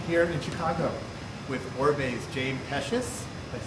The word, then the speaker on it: James Pecis: I am here in Chicago with Oribe's James Pecis.